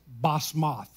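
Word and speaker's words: Basemath: He also married, and the way you pronounce that is Basmath. He also married Basmath.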